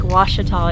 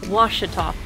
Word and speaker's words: Ouachita: close to our favorite lake which is lake washita in arkansas so say the name of the lake again lake washita o-u-a-c-h-i-t-a so i've been pronouncing it wrong all